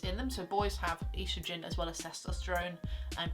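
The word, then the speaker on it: oestrogen: females, it's estrogen, and estrogen is one of those strange biology words that has a silent letter in it. So I know you say it estrogen, but there's an O in there as well.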